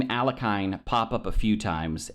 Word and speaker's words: Alekhine: First thing I learned was that I've been mispronouncing it this entire time. So it should be closer to Alekhine or Alekhine.